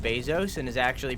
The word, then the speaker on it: Bezos: I heard recently that that Jeff Bezos' name isn't actually pronounced Bezos and is actually pronounced Bezos, and I think that he should change it.